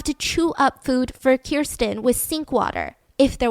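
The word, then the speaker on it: Kerstin: later so life with kristin was uh kirsten is the pronunciation was hard i mean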